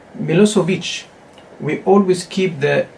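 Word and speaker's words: Milošević: Names, for example, like Milosevic, we always keep the sound in its original language.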